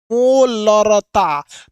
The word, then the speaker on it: मोलरता: देखिएगा अगर इसको प्रोनाउंसिएशन करेंगे तो हल्का सा इसमें लीटर की ध्वनि है, मोलरता। तो मोलरता में ना कहीं एक लीटर वाला टोन सुनाई दे रहा है, लेकिन इसमें लीटर वाला कभी नहीं सुन।